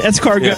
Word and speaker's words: escargot: Even though the T is silent, Escargot. Yeah.